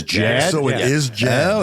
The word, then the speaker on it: JAD: any more time uh tonight's guests are the j a d and Shaggy Trio how you guys doing good good uh it's actually pronounced Jad it's Jad so it is Jad oh it is Jad